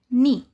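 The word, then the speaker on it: knee: जब के के बाद एन आता है तो के साइलेंट हो जाता है। जैसे एग्जांपल नी यहां के के बाद एन आया है तो के का उच्चारण नहीं हुआ।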